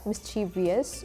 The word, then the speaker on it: mischievous: So it was like whether to add an I or not add an I. Mischievous or mischievous.